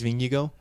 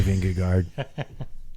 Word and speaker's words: Vingegaard: Or Jonas Vingegaard. I say learned that- Vingegaard. We learned that last year. Yeah. I know, but I refuse. I say Vingegaard.